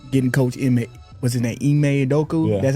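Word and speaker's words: Ime Udoka: From getting coach, was it that Eay Adoku? That's how you pronounce it.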